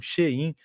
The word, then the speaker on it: Shein: produto iria aumentar, porque a Shein, essa é a pronúncia certa mesmo, Shein, a Shein, eles vão repassar qualquer tipo de imposto que foi incidido ali sobre a encomenda.